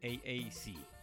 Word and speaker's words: AAC: Si lo pronuncias en inglés es el AAC.